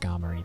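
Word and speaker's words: Skarmory: Um, which I'm realizing it should be pronounced scarmy because it's a play on play on armor. like sky armory.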